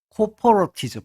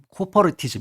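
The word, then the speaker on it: corporatism: 노동조합, 노정 이런 걸 정부간의 논의 이런 걸 우리가 삼자 협의주의 좀 넓게 얘기하면 사회적 코퍼레티즘, 사회적 조합주의 뭐 이렇게 코퍼티즘 코 코퍼리티즘 이렇게 발음하죠.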